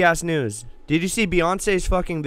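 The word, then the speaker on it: Beyoncé: years right she says my name is not pronounced Beyonce it's pronounced Beyonce what yep are you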